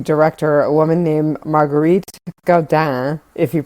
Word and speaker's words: Gaudin: a woman named Marguerite Gaudin, if you pronounce it the way that you would if she's French, or Gaudin, if you pronounce it the way that Americans probably would.